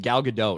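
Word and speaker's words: Gal Gadot: you you pronounce it galgadot I know I know I know with a hard T at the end gal soon as I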